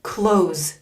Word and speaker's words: clothes: close close close close a lot of students struggle with this word here some people say clothes or clothes cloth cloth some people do say clothes they add that the sound in there clothes but you can if you want but just say clothes keep it simple I need new clothes